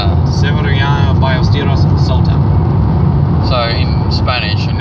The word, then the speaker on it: Ballesteros: But anyway, no, but I was going to say, Ballesteros, it's pronounced Ballesteros because in Spanish, a double L is pronounced as a Y. Or more like an I. More like an I/Y.